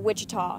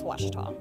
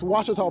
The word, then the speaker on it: Ouachita: Back in Texas, everybody pronounces it Wichita, but really, it's Ouachita. Ouachita. Ouachita. How would you pronounce it? Ouachita. Ouachita. It's Ouachita Baptist University. Get it right. It's Ouachita, people.